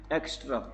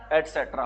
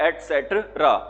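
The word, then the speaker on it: et cetera: कई बोल देते हैं इसको क्या बोल देते हैं? एक्स्ट्रा। ध्यान रख लेना। ये क्या नहीं होता? एक्स्ट्रा नहीं होता। क्या होता है ये? एसेट्रा होता है।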